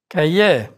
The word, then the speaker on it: cahier: R is not pronounced in words ending in IER, like Cahier.